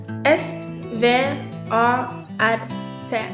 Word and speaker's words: svart: This is the color black in Norway we pronounce Black like svart we spell Black s v a r t try it svart we hope You learned some